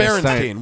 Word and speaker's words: Berenstain: pronounced It's Berenstain.